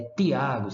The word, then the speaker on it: Tiago: que eu conheci e ele se chamava Thiago e eu chamei ele de Thiago ele disse não é Tiago se faz favor que a pronúncia deles